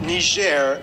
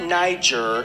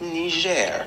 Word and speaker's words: Niger: Mali and Niger yes people that's how you pronounce it Niger not Niger not nature and definitely not that offensive words